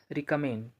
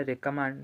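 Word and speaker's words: recommend: ठीक है, हम क्या पढ़ेंगे इसको, आइल के बाद हमारा रिकमांड है तो हम इसे रेकमेंड पढ़ेंगे। ठीक है, हमारा प्रोनाउंसिएशन क्या होगा, रेकमेंड। ठीक है, रिकमांड या रिकमेंड नहीं पढ़ेंगे, हम क्या पढ़ेंगे, रेकमेंड।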